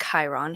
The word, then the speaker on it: Chiron: turn to Chiron and it's spelled c-h-i-r-r-o-n it's pronounced Chiron who's a centaur and so he's the son